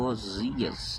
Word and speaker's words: Oséias: Portanto, não poderia ser chamado Oséias, chamado Osias, né? A não ser que a pronúncia em outra língua venha a ser Oséias, né?